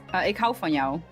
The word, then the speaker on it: Ik hou van jou: Ik hou van jou.